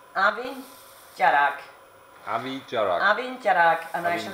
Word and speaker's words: Abhainn Dearg: Easton they makes you pronounce the name is pronounced Abby Garrick amici are having Garrick immersion I mean once